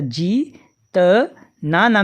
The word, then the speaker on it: जीतना: यहीं पर यदि बड़ी ई की मात्रा लगी होती जा में, तो इसका उच्चारण करते जीतना। जितना और जीतना में अंतर है दोस्तों, तो ध्यान रखेंगे।